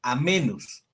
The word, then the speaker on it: amoenus: Cuando leemos amenus, amoenus, se pronuncia amenus.